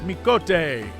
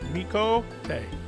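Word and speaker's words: Mikoto: Anna, it is Mikote. That's how you say it. Mikote. It is, if you watch Star Trek, it's like Chakotay, the character, except it's Mikote.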